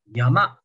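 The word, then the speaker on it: 山: Kalau ini di bahasa Mandarin bacanya Sang. Di bahasa Jepang bacanya Yama.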